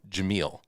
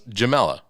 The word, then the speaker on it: Jameel: of episodes, she definitely pronounces her name Jameel. Yeah. She says, "I am Dr. Jameel Brooks." She does. And then I knew that. And then almost immediately after Bill goes, Jamel.